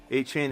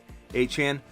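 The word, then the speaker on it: Achane: thumb up button drop McLaurin for Dell probably a chain is pronounced uh a Chan everybody pronounces a different bro and you'll hear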